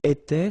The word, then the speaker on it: étais: J'étais, so final S not pronounced. Tu étais, same form.